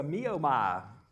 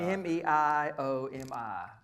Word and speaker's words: Meiomi: It's a Miomai. I don't think that's the way you pronounce it. Probably not. Meiomi.